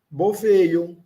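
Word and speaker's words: bovejo: Boveio. Lembrando que esse J tem um som de I breve. De pai, é o I de pai, bem suave, bem fraquinho. Boveio. Olha, o O é pronunciado.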